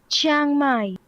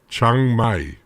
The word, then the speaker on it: Chiang Mai: Or to get it officially correct, this is, and that was Chiang Mai. Chiang Mai. Why do I keep on adding a syllable? Chiang Mai.